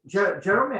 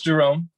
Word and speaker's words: Jerome: yeah yeah absolutely absolutely jeremy how do you pronounce your name is it jer jerome or jeremy how do you pronounce it it's jerome yeah jerome because i thought